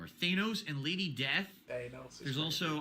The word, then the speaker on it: Thanos: d back then I thought his name was Thanos apparently it's pronounced Thanos and now we all know that but we